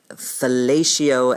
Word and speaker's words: fellatio: And um I recall hearing in my head the word fellatio as rhyming with patio. So it was fatio.